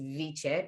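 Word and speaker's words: wicce: it meant wisdom it was spelled w or pronounced viche but c w-i-c-c-e with v which in the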